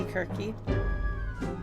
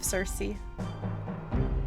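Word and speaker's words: Circe: no cuz because so so kirky is actually uh how you're supposed to pronounce her name so it's not really a mistranslation i mean i also don't mind teleporting home yeah the c-i-r-c-e is supposed to be kirky instead of cersei yeah oh it was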